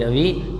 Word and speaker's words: rabi: कौन सा crop, RABI, रवि, CROP, crop. बच्चे स्पेलिंग B है, V नहीं है, ध्यान देना, RABI, रवि क्रॉप्स।